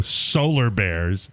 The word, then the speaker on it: Solar Bears: other team the Orlando Solar Bears uh they scored against Florida osar it rhymes with polar bear but because it's in